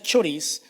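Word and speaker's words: χωρίς: Fíjese algo interesante, que la palabra separados proviene del término griego, se pronuncia choris, se escribe de esa manera.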